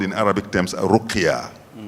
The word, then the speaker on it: ruqya: call in Arabic terms ruqya. Ruqya. R-U-Q-Y-A. If you like, I can add, because it's an Arabic word with a hyphen on the A, that is an elongated pronunciation, ruqya.